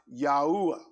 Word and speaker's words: Yahuwah: technogrammaton is four letters well when you pronounce those four letters together yode udhei is pronounced yahuwah so his and and